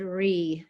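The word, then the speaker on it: Rilly: But then in the modern era, there's a couple of books and then a series of articles by Claude Ree. His last name is spelled R-I-L-L-Y.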